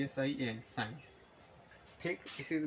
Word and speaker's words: sin: तरह से लिखा जाता है एस आई एन साइन ठीक इसी को अब sin इस तरह से